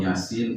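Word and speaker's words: Yāsīn: Banyak yang membaca seperti ini. Yasin wal Qur'anil Hakim. Karena apa? Karena memang ada bunyi nun, kemudian ada waw, dianggap gunnah. Nah, padahal yang sahih adalah tetap bacanya Yasin wal Qur'anil Hakim kalau diwasolkan.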